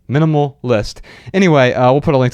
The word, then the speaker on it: MNMLL.ist: Now, it is spelled MNMLL.ist. So it's like minimal without the vowels, only the consonants, with an L at the end, .ist. Minimal List.